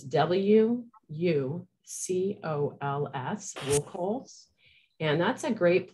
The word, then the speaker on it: WUCOLS: And I'm going to spell it slow here, the acronym. It's W-U-C-O-L-S, WUCOLS.